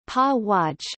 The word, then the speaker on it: Paraguay: Paraguay, Spanish pronunciation, Pa-Waj, Guarani, Paraguay, Pa-Waj, officially the Republic of Paraguay, Spanish, República del Paraguay, Guarani, Teta Paraguay, is a country of South America.